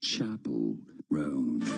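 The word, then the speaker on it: Chappell Roan: Chapel, not Chapel. Chapel Roan.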